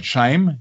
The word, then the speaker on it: Chaim: Dort nahm er den Geburtsnamen seiner Mutter Klein an und sein Vorname Chaim, der auf Hebräisch Leben bedeutet, sich in englischer Aussprache wie Shame, also Schande, anhörte, erhielt er offiziell den neuen Vornamen Eugene.